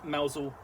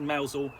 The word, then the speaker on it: Mousehole: uh mausol prest okay now i said mousel um it's spelt mousehole but uh the tristan that is tends to be spelt uh in tends to be pronounced mausol um as in the um cornish village so um we'll get